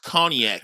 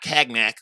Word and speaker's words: cognac: time you know state is pronounced cognac not tagged Mac Oh cognac you can